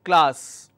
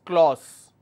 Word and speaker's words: class: mistakes say I have a word which is class you need to listen very carefully if you